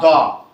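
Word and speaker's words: the: যদি এই দির পরে কোনো শব্দ আসে, তার প্রথম বর্ণ ভয়েল থাকে, তখন উচ্চারণ হবে দি। বলো দি অ্যাপল। দা বুক। বুকের বি আছে কনসোনেন্ট, বুঝতে পারছো? তাহলে দির উচ্চারণ কয়টা? দির উচ্চারণ কয়টা? যদি ভাওয়েল যুক্ত শব্দ আসে তাহলে উচ্চারণ হবে দি, যদি কনসোনেন্ট যুক্ত শব্দ আসে তাহলে হবে দ।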